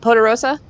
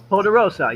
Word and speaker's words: Poderosa: i always mispronounce it potarosa poderosa yeah there it is yeah there you go